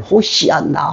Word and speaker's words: 호산나: 뒤에서 따르며 소리 지르며 호산나 구약 발음으로 정하게 말하면 호시아나 호시아나 우리를 구원하소서 지금 우리를 구원하소서 외쳤습니다.